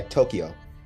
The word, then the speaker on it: Tokyo: When he's with his friend Tokyo, is that how you pronounce it? Tokyo? Yeah, Tokyo. Yeah, Tokyo. Like the city.